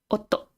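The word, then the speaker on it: 夫: I always get this one confused with a few, like matsu looks very similar, and they're pronounced pretty similar. I always get them confused. And you have otto, husband, or fu.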